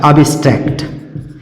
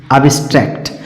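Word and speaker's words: abstract: बैक्ट बैक्ट और एक ऐसे भी होता है एब्स्ट्रेक्ट एब्स्ट्रेक्ट तो इसमें बी सॉरी ये नहीं हो सकता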